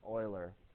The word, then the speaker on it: Euler: that occurs often in nature this old boy euler did tons and tons and tons of experiments